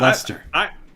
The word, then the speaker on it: Leicester: in this Leicester, and it was called Leaps in Leicester, which was a pun on Lester Leaps In, but it only works if that's how you pronounce the word. So yeah, Leicester.